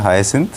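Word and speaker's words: hyacinth: ये है हाइसिंथ, जो इसका करेक्ट प्रोनाउंसिएशन है वो है हाइसिंथ।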